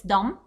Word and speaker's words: dumb: shy dom of course we're not pronounced the bee here so it's dumb don't ask dumb questions